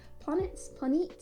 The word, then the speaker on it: Planetes: It's got an E after the T. Planetes.